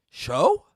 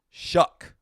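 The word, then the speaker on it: Shough: Show? Shuck. It's Shuck.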